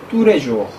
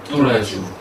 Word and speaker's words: tous les jours: 이것 도 "tous-les-jours" 는 아닙니다 . 'L' 발음 은 하나 뿐 입니다 . 그래서 천천히 말 할 때 는 "tous..."... les jours." 하지만 빨리 말 하면 "tous-les-jours ."" Tous-les-jours." 라고 하면 " 뚜레쥬르 " 입니다 .